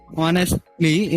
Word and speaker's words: honestly: go through it and the pronunciation of honestly is on it starts with o not ho okay even I used